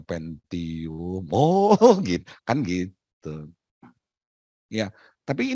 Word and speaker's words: Pentium: Benar nggak bacanya Intel pensiun? Bukan Pak, Intel Pentium.